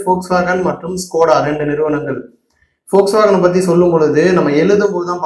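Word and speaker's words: Volkswagen: ஃபோக்ஸ்வாகனை பற்றி சொல்லும் பொழுது நம்ம எழுதும் போது தான் பார்த்தீங்க அப்படின்னா வி வரணும், VOL வரணும். பட் ப்ரொனவுன்ஸ் பண்ணும்போது, உச்சரிக்கும் போது பார்த்தீங்க அப்படின்னா ஃபோக்ஸ்வாகன் அப்படின்னு F தான் வந்து வரணும், அப்படி தான் வந்து உச்சரிக்கணும்.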